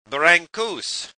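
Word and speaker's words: Brâncuși: professional New York City driver from Romania, Constantin Brancussi, is what most Americans would say, and from Romania, Constantin Brancussi.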